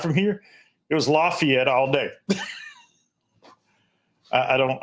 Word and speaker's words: Lafayette: I say Lafayette. That's what uh most folks say, but if you live here, it's Lafayette.